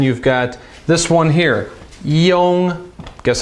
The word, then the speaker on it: yong: yun, and then you've got this one here, yong. Guess how you spell it?